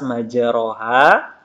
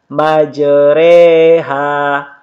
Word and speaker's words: majreha: Jadi cara membacanya majreha, majreha. Tidak dibaca majroha tapi dibaca majreha.